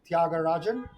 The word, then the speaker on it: Tyagarajan: join this call and the way to pronounce my name is Thiagar Rajan.